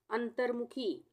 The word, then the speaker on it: अंतर्मुखी: अंतर्मुखी, अंतर्मुखी, अंतर के बाद त के बाद र का उच्चारण आ रहा है तो उसके अगले अक्षर पर ही र की मात्रा लगेगी, ना कि र इससे पहले लगेगी।